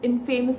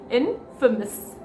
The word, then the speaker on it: infamous: Stop calling it as infamous, people. This is the wrong pronunciation of this word. The right pronunciation for this is infamous.